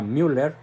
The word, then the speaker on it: Müller: alemán cardenal Gerard Müller se escribe mu doble R con diéresis en la u por eso se pronuncia Müller dice que Benedicto 16